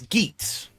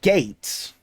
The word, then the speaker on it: Geats: of the fact that his name is geets or gates like it could vary it could be easily pronounced as either or and you realize oh